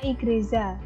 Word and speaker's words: igreja: kata dalam bahasa Portugis yaitu igreja bacanya igreja Za kata igreja ih